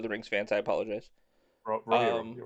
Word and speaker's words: Rohirrim: Rohirrim, possibly. Rohirrim, yeah. I'm sorry for any Lord of the Rings fans. I apologize. Rohirrim, right.